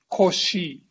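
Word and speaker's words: Cauchy: english so this guy the french person his name is koshi this german his name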